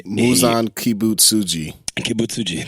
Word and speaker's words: Muzan Kibutsuji: And then Muzan Kibutsuji, that's how you say it.